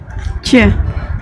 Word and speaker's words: Ч: Ensuite, nous avons le Ч, Че.